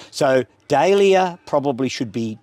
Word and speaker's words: dahlia: commemorative name, you should pronounce it as close as possible to the original form of the name and with a Latin ending. So dahlia probably should be dahlia, fuchsia should be fuchsia, and mahonia probably should be mania.